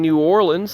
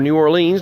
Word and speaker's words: New Orleans: So, this is what it looked like in New Orleans, Louisiana, or New Orleans, depending on pronunciation, when people stepped out Thursday morning.